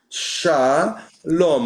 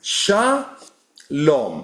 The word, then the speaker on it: shalom: So this is sha lom. How do I get rid of that now? Okay. Shaom. And then you have the second syllable is here. This is the second syllable. So we have shaom.